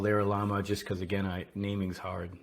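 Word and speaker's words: LaraLlama: It's called LaraLama. Did I pronounce that right? Kind of like the animal.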